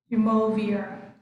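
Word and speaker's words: Umuofia: Muovia or Jumovia? How shall we pronounce that one? Okay, that is the name of the forest, right? Yes. Jumovia. We should pronounce Jumovia.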